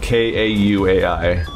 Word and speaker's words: Kauai: Yeah, there's the oldest island of Hawaii is called Kauai. It's spelled K-A-U-A-I. And because it's the Hawaiian language, that floating I at the end is pronounced like Kauai.